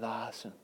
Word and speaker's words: Lawson: Hey, it's Brian Lawson. And it rhymes with Clausen.